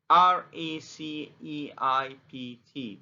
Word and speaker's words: receipt: receipt is the bill it's r e c e i p t but p is silent so we say receipt